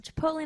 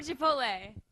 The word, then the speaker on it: Chipotle: this subject I'm a Chipotle I'm a Chipotle like with the l e at the end like just like the way it's spelled it makes sense that way yeah chipot I had